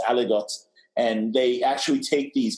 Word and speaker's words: aligot: So it's not Bras, it's not Aligot, it's Aligot.